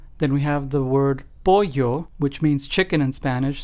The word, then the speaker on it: pollo: Lleno and pollo. Notice how in both of those the two L's sound like a Y in English. lleno and pollo.